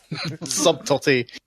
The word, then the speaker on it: subtlety: It's a lot better than the last one, Subtlety, except you pronounced the B. Subtlety.